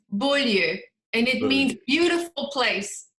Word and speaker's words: Bolyeu: My last name is pronounced bull and it means beautiful place in English and it means beautiful place in English.